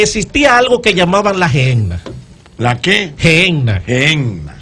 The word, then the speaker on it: Gehenna: algo que llamaban la gehenna. ¿La qué? Gehenna. Gehenna. Se pronuncia gehenna, ¿verdad, pastor?